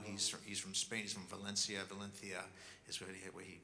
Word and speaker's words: Valencia: He's from Valencia is the way he pronounces it.